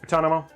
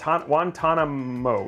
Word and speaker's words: Guantanamo: it one ton man guatonomo what guantanamo yeah guantanamo i said it right i use a